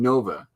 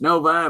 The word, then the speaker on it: Novi: But in Novi, Michigan, or it's in Nova, Michigan, I was saying Nova, and they're going, "It's Novi, buddy."